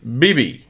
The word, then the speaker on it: BIBI: this is a solo artist and this is BB right we just listened to it just a